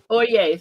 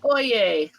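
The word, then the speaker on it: Øye: o what did you say it was oay oay thank you if it's pronounced like they use it in the legal profession it's OA oay 2001 um so yeah this he is Nordic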